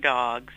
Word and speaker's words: Dawgs: It's Derwitos and Dogs.